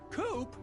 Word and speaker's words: Coop: Coop? That rhymes with scoop.